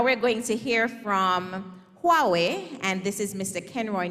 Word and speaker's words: Huawei: to pronounce the word Huawei three two one wonderful not not Yahweh not Hawaii not Yahweh the company is pronounced Huawei Technologies and does anybody know